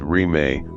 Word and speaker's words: Rime: Thus was born a movement known as Rime, without boundaries, pronounced Rime, which has continued up to the present day.